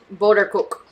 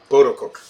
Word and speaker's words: Boterkoek: Is that really how in the Danish language is how it's pronounced? Boterkoek. Boterkoek. Yes.